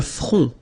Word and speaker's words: front: Le front. Final T not pronounced.